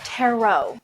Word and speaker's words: tarot: never mind these are teror cards anyway taxon it's pronounced tarot I was about to say I absolutely cannot stand when people pronounce tarot like carrot I've never seen cards